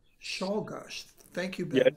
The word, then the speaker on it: Czolgosz: How does he pronounce his name? Leon? Czolgosz. Czolgosz.